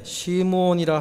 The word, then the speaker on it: 시므온: 본문 25절에 보면 예루살렘에 시므온이라 하는 사람이 있으니 이 사람은 의롭고 경건하여 이스라엘의 위로를 기다리는 자라 그러죠. 이름을 시므온이다 이렇게 소개를 했습니다. 이 히브리식 발음이고 헬라식 발음은 시몬입니다.